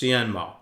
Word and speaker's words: Hsienmo: Cienmo Guitars. So, the H is silent, pronounced Cenmo.